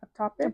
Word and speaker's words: ectopic: Ectopic.